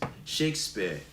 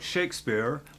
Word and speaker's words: Shakespeare: We just don't say the R sound.